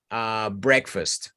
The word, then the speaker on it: breakfast: Por ejemplo, mira la palabra breakfast. Tiene una E y una A y no es breakfast.